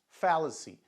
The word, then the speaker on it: fallacy: Então, por exemplo, a gente viu aqui em, né, fallacy, né? Fallacy, falácia, né? O lá no português e o fá em inglês.